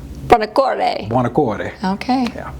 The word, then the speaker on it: Buonacore: The Italian way, the U is pronounced. It would just be Buonacore. Buonacore.